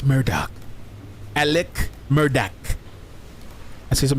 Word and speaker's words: Murdaugh: experts or the Murdoch it's pronounce Murdoch Alec Murdock I see